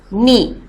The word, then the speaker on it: knee: As you can see, there is a k in it, but this will be pronounced only as not, rap, knee, no, wrong, wrench.